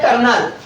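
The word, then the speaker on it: colonel: साथ सिटी के जैसे कर्नल बता इंग्लिश में बोला जाता है कर्नल लेकिन जब इसकी स्पेलिंग लिखी जाती है तो कोलोनल लिखा जाता है इसीलिए हर कोई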